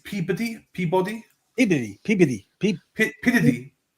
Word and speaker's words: Peabody: Peabody. Peabody. Like Peabody. Like P. Diddy.